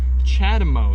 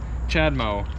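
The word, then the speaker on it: CHAdeMO: cars to use what's called chad mo charging c-h-a-d-e-m-o i'm pretty sure it's how it's spelled chad mo and that uh it's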